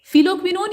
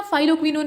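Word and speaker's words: phylloquinone: फिलोक्विनोन या फाइलोक्विनोन इसको कहा जाता है, ये प्रोनाउंसिएशन का थोड़ा फर्क है।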